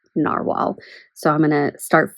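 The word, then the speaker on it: Nahvalur: friends and learned that even though the spelling changed, it's still pronounced narwhal.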